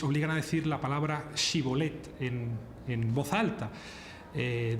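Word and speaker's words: shibboleth: pueblos era este alófono los de galat decían shibolet mientras que los de efraim eran incapaces de pronunciar esa palabra decían shibolet con con ese de manera que cada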